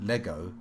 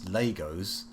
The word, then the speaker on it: Lego: Although any uh people out there pronouncing Lego as Legos, you must also apologize because that is offensively wrong.